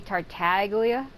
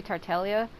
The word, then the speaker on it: Tartaglia: want to say it people have been saying that the g is silent it looks like it would be tartaglia but it's actually tartelia I don't really care